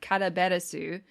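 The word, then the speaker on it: カラベラス: i guess um and her name in japanese is pronounced uh karaberasu and she is named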